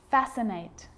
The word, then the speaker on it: fascinate: subtle debt and doubt now the letter c can cause a few problems because it's often silent after the letter s like in these very common examples they're quite tricky muscle muscle scissors fascinate scene scenario muscle scissors